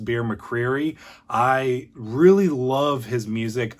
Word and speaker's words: Bear McCreary: And then besides that, we have, I believe his name is pronounced Bear McCreary.